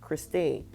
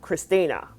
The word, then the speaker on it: Christina: And at the same time, she even harshly corrected the producer for calling her Christine. No, Christina.